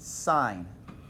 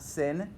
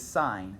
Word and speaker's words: sine: not church that's pronounced sign right that is an abbreviation for the word sign it is not sin it is sign so you're talking about